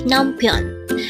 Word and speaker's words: 남편: only here they hangle word number 95 naion again it's numon this pronounce is a two syllable word the first